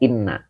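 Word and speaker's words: إنّ: lihat di sini ini dibacanya Inna bukan in kalau in ketemunya fi'il tapi kalau Inna ketemunya Isim maka ini dibaca Isim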